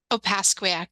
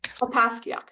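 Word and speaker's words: Opaskwayak: member of AAS Kakak sorry I'm really bad pronunciations creation sorry repeat it op pasak op pasak that's actually much easier than I would that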